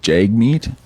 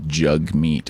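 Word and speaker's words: Jagmeet: resign you don't like Jag meat and I have to insist that you pronounce it correctly it's jug meat apparently it's jaggy jagy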